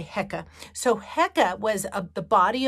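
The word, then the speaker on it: Heqet: egyptian goddess and there's two different pronunciations for her name heca or hecate and i'm gonna just say hecka so hecka was the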